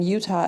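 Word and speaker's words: Eutaw: So he was a sharecropper's son in Utah, Alabama. And the way you spell that, by the way, is E-U-T-A-W. I'm not kidding, Alabama.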